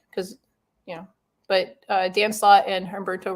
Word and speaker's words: Humberto: We did a creator slide because, but Dan Slott and Humberto Ramos. Humberto Ramos. Yes, that. And People give me shit because I used to say Humberto, but he's like, there's no H. It's Humberto.